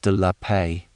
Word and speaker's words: de la Paix: The name of this street is properly pronounced de la Paix.